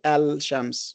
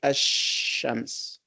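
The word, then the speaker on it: الشمس: So we add al to shams, but we do not say al-shams. We say ash-shams. So the lam is dropped.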